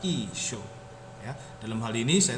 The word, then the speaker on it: Isho: Tapi kalau kita perhatikan dengan bahasa Aram Timur, baik secara aksaranya ini sama dengan aksara ekstrangelo, tapi mengalami perkembangan dalam hal pengucapan, dibaca Isyo.